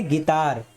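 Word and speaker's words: guitar: For example देखिए यहाँ पे कह रहे जी के तुरंत बाद यू है, तो यहाँ पे यू वर्ड साइलेंट होगा। इसको क्या पढ़ेंगे, गिटार।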